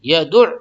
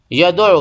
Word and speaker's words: یدع: ٹھیک ہے۔ یدع الیتیم، یہ بہت سے لوگ اس کو صحیح سے تلفظ نہیں کر پاتے ہیں، یدع کو، تو اس کو آپ لوگ خاص طور سے دھیان دیں۔ یدع الیتیم، کیا بولیں گے؟ یدعو، بہت سے یدعو بولتے ہیں، بہت سے یدعو، یدعو